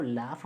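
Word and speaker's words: laugh: important है अभी देखिए एल ए यू जी एच अब स ये लाफ कहां से बन जाता है भाई स्पेलिंग एफ से फ होता है लेकिन इसको लाफ बोलते हैं इसको दो पता नहीं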